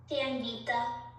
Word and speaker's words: Sanvita: Sanvita. Sanvita? Yeah. Okay. So, how do you spell it?